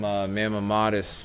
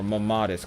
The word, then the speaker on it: mammatus: This usually is a great indicator, or Mammatus clouds, I keep pronouncing it wrong.